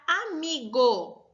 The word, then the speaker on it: amigo: O go é a última sílaba, o mi é a penúltima sílaba e o a é a antepenúltima sílaba. Então, o mi sendo a penúltima sílaba, ela torna a palavra uma palavra paroxítona.